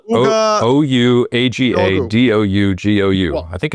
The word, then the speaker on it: Ouagadougou: It's spelled Ouagadougou. Ouagadougou. I think it's Yes. Ouagadougou.